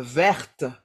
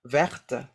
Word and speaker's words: verte: et cetera et cetera comme verte vert verte on prononce le T et cetera et numéro